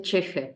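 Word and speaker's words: ch'ixi: ¿Cheje es una palabra japonesa? Es quechua, no, porque Silvia Cusicanqui es una antropóloga boliviana, se escribe Chixi. Okay. Se escribe CH''Ixi. Ajá. Y se dice cheje.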